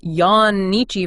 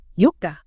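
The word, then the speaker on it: 四日: pronunciation changes compl completely instead of saying Yan nii for 4 days you'd say Yuka wow so it's like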